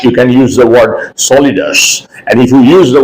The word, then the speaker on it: solidus: solidas is o l i d u s solidus the word is soliders this is a technical word okay now when uh you need to use the word slash instead of Slash you can use the word solidus and if you use the word solidus the